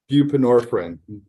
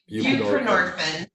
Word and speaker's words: buprenorphine: I know I mispronounced that. Controlled sub. What is it? Bupinorphine. Bupinorphine. Buprenorphine.